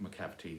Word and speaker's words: Macavity: thought up the name Macavity and then looked at all the possible rhymes and use them as inspiration to write those lines so having worked out macavity rhymes of gravity what's the possible connection